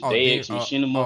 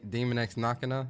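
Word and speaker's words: Daemon X Machina: How you pronounce it? Dex Machinima. Oh yeah, Demon X Machina.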